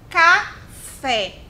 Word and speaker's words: café: Café. Olha aqui, ó. Falei mais baixinho, mas ainda assim o fé saiu com mais força, perceberam?